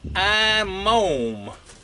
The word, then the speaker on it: IMOUM: 6in bar length from iome like I'm home but I'm M I had an email